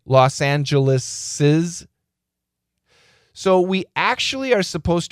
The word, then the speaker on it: Los Angeles's: So even though we don't write the S, we're supposed to pronounce it.